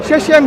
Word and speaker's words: Shechem: Shechem, how you say it? Yeah. Shechem, he reaffirmed for them Yeah.